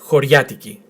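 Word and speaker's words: χωριάτικη: Now you can say it choriatiki, which is a very clear pronunciation, but in Greece when you start talking quite fast, it sounds choriatiki, not choriatiki, choriatiki, choriatiki. But choriatiki is fine.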